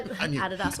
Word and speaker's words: Adidas: enemy but why because I adopt but I Adas that's how you say it I'm a Nike